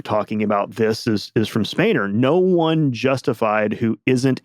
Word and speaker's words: Spener: Spener.